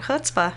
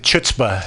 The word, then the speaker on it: chutzpah: me only Jews yeah in English they use they do a CH but you have to know how to pronounce it yeah that's why people pronounce it chutzpah and women when they